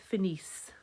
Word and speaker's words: finissent: Nous finissons, vous finissez, il, elle finissent. Okay, and you remember the E and T is never pronounced. So in the last part there, you're just going as far as the S's.